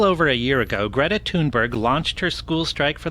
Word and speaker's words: Thunberg: I've noticed so many guys mispronounce the name. She says it a bunch of times. She says it all cute up front, but it's Greta Thunberg.